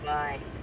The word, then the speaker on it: Vi: Eustacia Vi, maybe, because she said it rhymes with die.